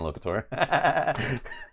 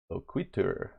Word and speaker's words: Loquitur: I'm like, oh, that's not how it's not locator. Loquitur.